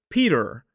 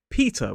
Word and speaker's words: Peter: For example, this name, you might think that it's Peter, which sounds a little bit more like an American pronunciation, or you might think it's Peter or Peter, but actually we commonly say Peter.